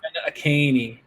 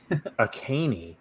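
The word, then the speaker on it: Achane: Devin Akaney. A caney. There's an H in there.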